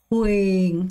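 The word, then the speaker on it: huyền: 호잉. 자, 왜 호잉일까요? 제가 말했죠. 이렇게 받침이 있고 우리가 요렇게 이거 위에란 말이에요. 이음절이 있을 때 어떻게 해요? 첫 번째 것만 소리 나고 두 번째 소리 묵음된다고 했죠?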